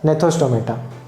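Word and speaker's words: gnathostomata: They are known as agnatha, whereas some are with jaws, and those with jaws are known as gnethostomata. G is silent in both the words.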